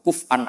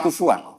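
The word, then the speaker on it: كفؤا: Harusnya kiro'ah masyuroh itu walam yakullahu kuf'an ahad bil hamzah. Dan rata-rata kiro'ah sab'ah bacanya kurok sab'ah bacanya walam yakullahu kuf'an, bukan kufuan. Tapi orang Quraisy itu yubaddilu nal hamzata wawan ba'da dhammi. Sehingga kufuan menjadi kufuan.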